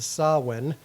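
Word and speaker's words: Samhain: Ireland and Britain celebrated called sawin it's spelled s a m h a i n just different language different rules um saan actually means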